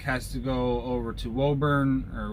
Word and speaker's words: Woburn: Front stack has to go over to Woburn. I don't know how they pronounce it. I've always pronounced it Woburn. It's W-O-B-U-R-N.